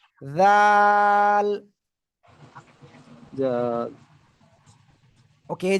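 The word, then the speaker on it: ذ: বাজবে না, জাল বাতে এরকম না, এই জিব্বার আগে এই দুই দাঁতের আগে লাগান, এই যে এই জি লাগান লাগান, লাগিয়ে উচ্চারণ করতে হবে। জাল, জাল ওকে, এই যে আমি লাগাচ্ছি, এই যে জাল।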